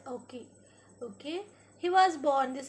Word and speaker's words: Ouchi: You should pronounce it as Ockey.